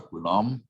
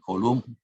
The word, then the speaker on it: Coulomb: Ada orang yang namanya Charles Coulomb, orang Prancis, jadi bacanya juga Coulomb, bukan Coulomb.